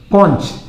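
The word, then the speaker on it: conch: कंच। सी ओ एन सी एच कंच।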